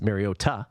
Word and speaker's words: Mariota: shutout last week by the Ravens America Marcus Mariota or as Mike Tirico likes to say Marcus Mariota correct pronunciation was sacked eleven times there's seven point